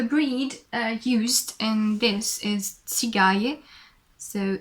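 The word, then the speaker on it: Țigaie: So it's a Tsigaye, and I think the English name for this sheep is actually Tsigai, and it's written Tsigai. So Tsigaye in Romanian, Tsigai in English, and it's the second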